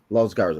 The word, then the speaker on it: Los Garza: Is it Los Garza? Los Garza.